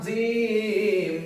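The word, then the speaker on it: ج: এক ফোঁটা তার নাম জিম তার নাম জিম হা অক্ষরের নিচে এক ফোঁটা তার নাম জিম তার নাম জিম জিম উসার কেমন হবে জিম উচ্চারণ কেমন হবে জিম জিহব্বার মাঝতে শক্তভাবে আদায় হবে জিম জিহব্বার মাঝতে শক্তভাবে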